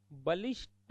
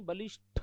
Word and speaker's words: बलिष्ठ: परिशिष्ट परिशिष्ट ट होगा बलिष्ट नहीं बलिष्ठ क्या होगा बलिष्ठ क्या होगा बलिष्ठ कटहरा